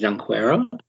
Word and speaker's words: Junqueira: Yeah, no, I think the proper Brazilian pronunciation is Junqueira, but Or is it a silent J, like Unquera?